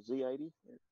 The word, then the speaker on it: Z80: model one so it's the z80 or z80 if you want to pronounce it correctly for american um that's a pretty